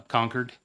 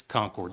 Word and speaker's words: Concord: to to visit uh conquered did I did I say it right okay all right out of here it's Concord sorry so Concord and uh